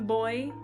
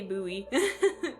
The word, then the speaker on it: buoy: Oh, see I say buoy. Boy. Boy. It's a boy. I don't know. I pronounce it buoy, too. Both are correct.